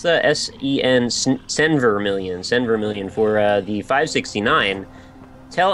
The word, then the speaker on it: Senvermillion: Is that how you pronounce that? S-E-N, Senvermillion.